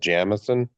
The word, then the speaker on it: Jameson: of uh um I'm a big fan of Jameson, which is is actually in Ireland and supposed to be pronounced Jamison.